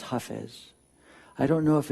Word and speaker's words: Hafez: f I isay and i want to say Hafiz because that's how we might say it in English but but in Arabic it's huh phase I don't know if